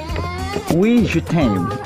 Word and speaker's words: Oui Je T'aime: Kemudian satu lagi ada Wijutain, ini dari Grab Hangse. Ya, dua ini. Bacanya gimana tadi? Wijutain. Oke.